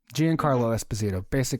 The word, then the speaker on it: Giancarlo Esposito: Giancarlo Esposito, almost right.